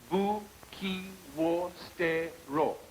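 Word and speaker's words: 武器を捨てろ: You don't really say the W in wool. It's like it's very subtle, but wool. What is it? That's better. No wonder it's better. Now try it. Game! Your pronunciation could be improved. It's Buki wo stero. Buki wo stero.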